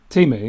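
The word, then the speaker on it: Temu: If Timu, is that how you say it? Because there's a big thing about how you actually say that, isn't it? Is it Timu, isn't it? Timu, yeah. Yeah.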